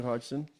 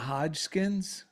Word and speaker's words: Hodgson: Yeah, Hodgson. How do you say it? Hodgson? It's not Hodgkins? No.